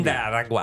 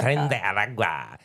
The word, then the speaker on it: Tren de Aragua: Tren de Aragua. You have to say it right. We are in the Tren de ABC 7 Aragua. Alert Center. Tren de Aragua.